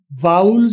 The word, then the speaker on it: vowel: मेरे पीछे एक दो स्टूडेंट्स प्रोनाउंस करें, वाउल्स बोलेंगे, वावल नहीं बोलेंगे, वाउल बोलेंगे।